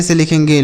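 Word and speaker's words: slow: तो अगर लास्ट में ओ डब्ल्यू हो तो उसका उच्चारण हम ओ की मात्रा करते हैं।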